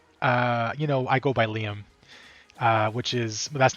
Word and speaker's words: Liam: But more importantly, it can be pronounced Liam if you're not familiar with the pronunciation.